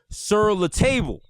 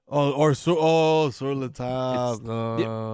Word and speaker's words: Sur La Table: And the last word in their name is not pronounced the way it's written out. Okay? I thought it was called Sur La Table. Sur La Table.